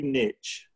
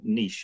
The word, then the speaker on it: niche: in the if you niche or niche as we say over here yeah sorry we're saying